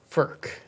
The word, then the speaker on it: Furch: It's spelled Furch, yeah, but it's a Slovakian. It's Czech. It's a Czech word. Yeah. Furch.